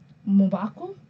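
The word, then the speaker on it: M'Baku: Like, Mubaku, that's how you pronounce his name.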